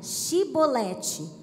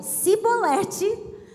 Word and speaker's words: chibolete: Se respondesse que não, os homens de Gileade lhe diziam: "Então diga chibolete". Se você dizia cibolete, não podemos pronunciar corretamente a palavra.